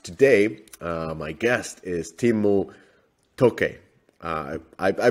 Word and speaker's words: Timmu: deconstructor fun podcast today uh my guest is timu tokei i i i mispronounced your name timo i'm really sorry but